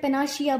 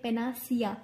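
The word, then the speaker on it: panacea: पेनाशिया बोलते हैं, लेकिन इसकी प्रोनाउंसिएशन होती है पेनासिया। सिया, शिया नहीं सिया।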